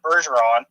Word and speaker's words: Bergeron: Bergeron. Sorry, Chris, I butchered your name. Scottish, Nova Scotian, not French.